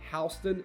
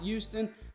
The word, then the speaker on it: Houston: the education in houston county yes it is pronounced houston not houston houston county has some amazing schools the base